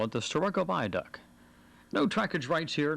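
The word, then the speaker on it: Starrucca: It may be spelled one way and pronounced another, but we heard locals call it the Sturroco Viaduct.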